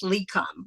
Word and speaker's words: LECOM: Yes, that's that's the acronym, I guess, LECOM, right?